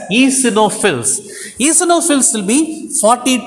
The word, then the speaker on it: eosinophils: number of wbc eosinophils actually spelling if you take eoc no fills but we have to pronounce it as easy no fills ethanol fields will be 40 to 500 okay 40 to 500.